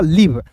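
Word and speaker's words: leave: रूप में ठीक है हो जाएगा आएगा लीव यहां पे अंतिम में आया ई साइलेंट होता है।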